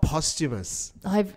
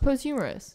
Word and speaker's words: posthumous: but you did posthumous it's called posthumous I've really I'm serve good pronounced post humorous post humorous ice which is like an